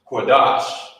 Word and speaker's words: Qadash: You wouldn't say Qadasha because of this connector. These connectors, like I said, they combine two of the characters together, and you will pronounce it as such. You will pronounce it the same way. So, like it was combined. So instead of saying the Shah, Qadasha, it's connected at the bottom. You say Qadash.